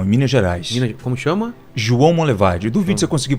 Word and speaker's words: João Monlevade: João Monlevade. Duvido se eu conseguir pronunciar corretamente. João Monlevade? É. Não é? Foi meio que um sotaque aí. Mas como que é? João Monlevade. Monlevade. Isso, João Monlevade.